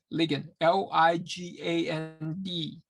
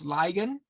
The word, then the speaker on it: ligand: We call that species a ligand, L-I-G-A-N-D. Some people pronounce it as ligand. I learned it as ligand, okay?